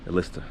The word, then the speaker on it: Elista: A list is what you pronounce it in Russian and Kelmik.